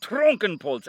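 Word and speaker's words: Trunkenpolz: the way isn't it two syllables trunk and poles anyhow cronrife trunkenpoltz and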